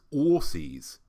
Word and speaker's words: Aussies: Americans refer to Australians as Aussies, as if the word is spelt ORSSIES.